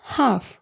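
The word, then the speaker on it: half: cough அப்படின்னா கண்ணுக்குட்டின்னு அர்த்தம் next one ஹாஃப் ஹாஃப் இங்க வந்து எல் சவுண்ட் வந்து சைலெண்ட் ஆயிடும் ஹாஃப் அப்படின்னா பாதி அப்படின்னு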